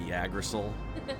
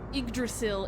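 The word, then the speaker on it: Yggdrasil: to name correctly but I used to call it the yagil or the agrol Yol because I mispronounced it horribly horribly badly to be fair igdrasil is a weird looking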